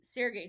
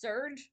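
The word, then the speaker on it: Serge: to read these there's the seray storm series or it was supposed to be pronounced surge storms by Tim dorsy I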